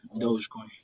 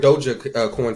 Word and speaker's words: dogecoin: uh but yeah man i really like uh dogecoin is how you say it that's interesting i called it dojo coin for a while honestly i would